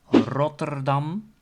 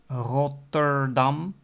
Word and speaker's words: Rotterdam: then you also have Rotterdam and you can also pronounce it with the other types of R pronunciations like Rotterdam and there's also